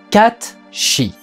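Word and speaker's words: Cait Sith: projet les peluches kachiwiss alors ça s'écrit comme ça mais c'est hollande est donc c'est comme pour sur charles dan les lettres c'est pour faire joli et en vérité ça se prononce catchy et c'est une peluche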